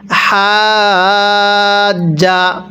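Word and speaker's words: حَاجَّ: এরপরে হাজ। পড়ুন হাজ। আগে টান দিবেন পরে হাকে জিমের সাথে লাগাতে হবে হাজা মিলিয়ে পড়ুন আলামতার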